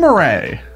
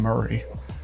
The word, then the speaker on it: Murray: Jim Marray. I think you actually say Jim Murray would be the correct pronunciation.